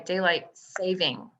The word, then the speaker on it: daylight saving: apologize i've got the daylight savings brain i'm sorry daylight saving it's daylight saving time you'll know that there's no s on the end of savings it's daylight saving time my mother pointed that